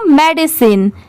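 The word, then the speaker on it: medicine: आई एन ई मेडिसिन अब अगर आपको इसकी स्पेलिंग इजली याद रखनी है देखिए एम ई मी की साउंड आएगी डी की क्या आएगी डी आई डी और सी आई एन ई तो यहां पर इसे साइन नहीं प्रोनाउंस करेंगे यहां पर मेडिसन की साउंड है तो यहां पर इसे क्या पढ़ेंगे सीन अब जब इन तीनों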